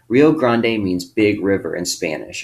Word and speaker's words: Rio Grande: rio grande all right rio grande means big river in spanish okay we oftentimes say rio grande all right but in spanish it's rio grande remember that the river